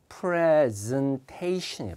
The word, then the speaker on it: presentation: 맨 끝에 전미어가 Asian으로 끝나면 액센트는 항상 뒤로 갑니다. Information, cooperation, presentation 이렇게 가거든요. presentation이 발음이요.